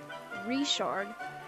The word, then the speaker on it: Richard: full name is reard I know it says I I know I I know it looks like it's spelled Richard but it's actually reard as I said um